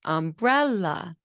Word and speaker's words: umbrella: Now, when we say umbrella, the second syllable rises, umbrella, okay?